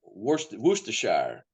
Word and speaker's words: Worcestershire: Yeah, but Derbyshire is the one thing to know about Brits is they pronounce everything kind of crazy. Like Worcestershire. That's Yes. and we've inherited Worcestershire.